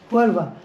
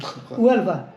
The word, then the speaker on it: Huelva: Huelva. The Huelva. H is silent. Huelva. Huelva. The H is silent. Okay, Huelva. It's not the Scottish H. It's Huelva.